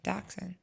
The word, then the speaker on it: dachshund: know my dog it's just not how to pronounce their breeds apparently interesting yeah so - Hound is actually dachshund yes I thought it was - town because